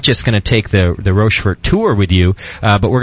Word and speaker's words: Rochefort: Make sure I'm saying it right, Paxton. It is Rochefort.